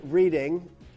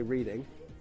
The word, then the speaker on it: Reading: And reading. I used to say, instead of Reading, I used to say reading.